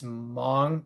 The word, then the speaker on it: Hmong: It's it's Hmong, pronounced the Hmong people.